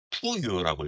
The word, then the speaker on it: 부여: 근데 중국어로도 부여 저 한글 저 한자로 쓴 부여를 푸유라고 읽습니다. 그러니까 스펠링으로 하면 P-U-Y-O 푸유라고 읽거든요.